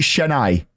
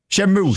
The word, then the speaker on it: Shenmue: pronouncing this right? Is it Shenai? The Shenmue. game. Shenmue.